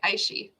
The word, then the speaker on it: iQIYI: Aishi, right? Iqiyyi, Aishi.